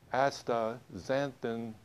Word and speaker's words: astaxanthin: you pronounce it and I kind of like to sing it um Asta xanthan Asta is very easy to remember if you say Astra the rest of it is easy my company produces astaxanthin